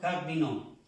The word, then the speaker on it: cardinaux: La A y la U suena O. Cardinaux.